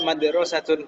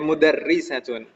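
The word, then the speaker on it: مُدَرِّسَة: ini jangan sampai salah jangan sampai salah membacanya Jangan sampai dibaca Hiya madrosatun hunaka atau Hiya mudarosatunah ti mudarrisatun gitu ya hya mudarisatun Hun baabtaal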